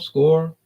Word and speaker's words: Skor: Score, I think it's called Score. But it's like spelled like Scandinavian, Skor, Score.